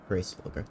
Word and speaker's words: Hraesvelgr: Okay, Hraesvelgr.